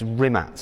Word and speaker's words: Rimac: on Bugatti products and rimax products I'm saying it kind of half correctly it's it's rimat isn't it rat yeah it's a creation way of pronouncing rimat okay so tell me